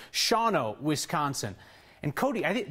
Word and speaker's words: Shawano: Like Mike Bishop, who wrote in tonight to say that I mispronounced the name of the town in Wisconsin. It's Shawano, Wisconsin.